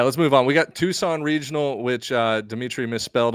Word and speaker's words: Tucson: on yeah yeah let's move on we got Tucson Regional which uh Demitri misspelled on the graphic